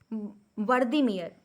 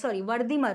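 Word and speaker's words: Wertheimer: Founder जो है आपके मैक्स वर्दीमियर, इसको वर्दी स्पेलिंग, हाँ, वर्दीमर होते हैं। वर्दीमर नाम याद कर लीजिए, वर्दीमर।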